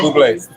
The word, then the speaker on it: Bublé: Yeah, it's pronounced Bublé.